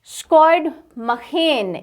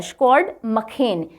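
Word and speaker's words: Sjoerd Marijne: Farmer India women hockey coach स्कॉड मखेन, इसको इस तरह से प्रोनाउंस किया जाता है, स्कॉड मखेन। ये मरीने या मजीने ऐसे प्रोनाउंस नहीं होता, ये स्कॉड मखेन pens down will power.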